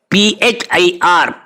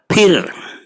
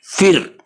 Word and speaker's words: फिर: PHIR, फिर. Some people pronounce it as F, फिर. That is wrong.